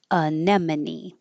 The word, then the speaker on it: anemone: This one looks a lot different than it sounds. I don't know how you might imagine it sounding, but it sounds like anemone. Anemone.